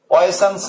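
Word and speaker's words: Poisson: একজন ফরাসি, পয়সনস ratio, POISSOINS, পয়সনস ratio, বা এর বাংলা হলো পোয়াস এর অনুপাত। পোয়াস, ফরাসি উচ্চারণ পোয়াস এর অনুপাত।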